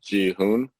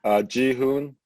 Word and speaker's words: Ji Hoon: And then I actually have, we don't do middle names, so it's actually G Hoon, but rarely anyone calls me that. And then my last name is spelled, which is Hotel Echo Oscar, but